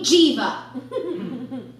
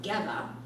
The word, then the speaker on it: Geva: he called my name Jeeva sure my last name is pronounced Gemma and I only corrected